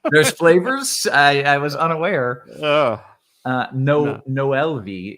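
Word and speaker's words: Noel Vi: Noel V is the pronunciation, by the way.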